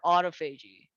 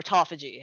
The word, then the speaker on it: autophagy: training to force more autophagy or autophagy I'm probably mispronouncing it uh myself it can be said both ways yes please yes okay